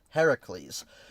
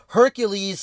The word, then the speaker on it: Heracles: It's Heracles. Heracles is the Greek pronunciation of his name and Heracles is a Greek figure. Hercules is the Roman pronunciation of his name.